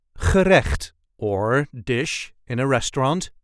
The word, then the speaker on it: gerecht: a regular Dutch accent gerecht, or dish in a restaurant in English. This is the way we say gerecht. Gerecht. I know that pesky Dutch g twice in this word.